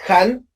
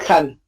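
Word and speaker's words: Khanh: So if you write it down, you're going to write 5 letters, K-H-A-N-H. And also a tone for my name is Han, not Han. Now, if you pronounce my name in Vietnamese, how many sounds are there? 3. You have h, a, n, right?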